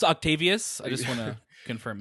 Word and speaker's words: Octavius: It's actually pronounced Octavius. I just want to confirm it's pronounced Octavius.